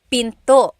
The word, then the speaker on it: pinto: Door in Tagalog is pinto. Pinto. And remember, don't forget the glottle stop. Don't forget to stop the sound at the end. That's called a glottle stop. Pinto.